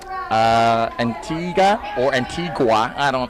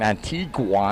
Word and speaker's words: Antigua: Thomas, Antigua. I think at the start of my filming sessions, I started saying Antigua, and then I heard that the locals say, "No, we're in Antigua."